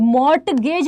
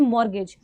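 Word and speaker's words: mortgage: मॉर्गेज क्या होता है मॉर्टगेज नहीं होता है ठीक है टी साइलेंट होता है इट्स मॉर्गेज तो देखो मॉर्गेज क्या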